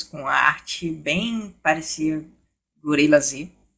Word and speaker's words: Gorillaz: a arte bem parecia Gorilla Z. É uma, é uma banda, todo mundo pronuncia Gorillaz, porque o Z é meio mudo, é meio um S mesmo.